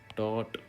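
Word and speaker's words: taught: Teach, टॉट, टॉट। इसमें भी ये देखना कि जी साइलेंट है, जब आप बोलेंगे ना तो TAUGST है, जी नहीं बोलना है।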